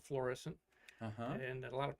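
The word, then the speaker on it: Florissant: just outside of St Louis a town called florescent uhhuh and a lot of people mispronounce it they call it fluorescent not fluorescent headquarters of McDonald that built the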